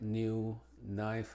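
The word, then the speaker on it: knife: que vemos aquí Carey y es muda Generalmente antes de la n como nak nive night Now knock knock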